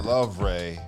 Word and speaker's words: Louvre: The Louvre.